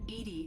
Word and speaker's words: EDI: is a joke why are you named edie edie is the phonetic pronunciation of edi get it like in your